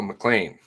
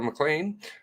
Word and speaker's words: McLean: MCC hearings September 23rd hmm right nice Barbara McLean so good afternoon everyone of course recorded MP3